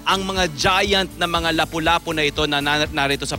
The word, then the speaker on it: lapu-lapu: experience grouper kapuso ay lapu-lapu or lapu-lapu ah Yan ang tama raw na pronunciation niyan lapu-lapu garupa sa China